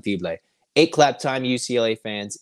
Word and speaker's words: Fibleuil: welcome in Ilan fibre and that is the best pronunciation I can give you at the moment when we can get more pronunciations we'll try and adjust it but we believe it's Ilan fiblay a clap time UCLA